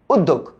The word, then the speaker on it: উদ্যোগ: খো, ওদ ধোক খো, উদ্যোগ। জফলার কারণে দ হবে দুইটা, তাহলে এখানে কি লিখবো আমরা? উদ, তারপরে লিখবো হচ্ছে দোগ, উদ দোগ।